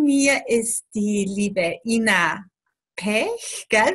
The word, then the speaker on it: Pech: Ich bin die und daneben mir ist die liebe Ina Pech. Gell? Wie spricht man das aus? Pech. Pech. Wie Pech, nur mit P, Pech.